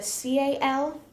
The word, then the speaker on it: KAL: And so it's a CAL or a KAL. So it's pronounced Cal either way, but one is a CAL or one is a KAL.